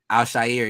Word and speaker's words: Al-Shaair: Al-Shaair, yeah.